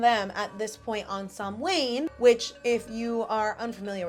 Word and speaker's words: Samhain: between us and them at this point on Sam Wayne, which if you are unfamiliar with how it's pronounced, it is pronounced Sam Wayne. It looks like Sam Hayne, but you know, who's to say?